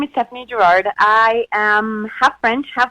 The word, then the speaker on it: Gerard: And, the correct name, of course, is Stephanie Gerard. But here in America, no one can pronounce it properly because of the accent, so I'm good with Stephanie Gerard. It's probably the American way to say it.